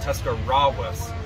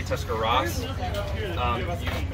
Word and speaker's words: Tuscarawas: if she gets this you pronounce that Tuscarawas Francisco yeah or a lot of people just say tuscaras a lot of people mix up the W's it's it's difficult it